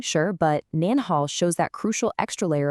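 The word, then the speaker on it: 您好: But for an elder or in a formal setting, you show respect by saying nin hao. Really listen for that extra N sound at the end.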